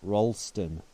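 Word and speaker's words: Rolleston: going forward here hopefully actually the locals pronounce it Rolston which kind of makes sense it doesn't look like it it's a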